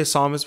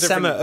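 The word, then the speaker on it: SAMA: I can't say Samus because it's not Samus, it's the South African Metal Samus. Music Awards. Samus. Get a pronounce and Samma. Okay, yeah. I didn't know that. Samma, because it's double M.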